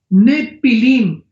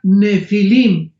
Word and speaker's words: Nefilim: Nepilim, se pronuncia Nefilim en el original hebreo.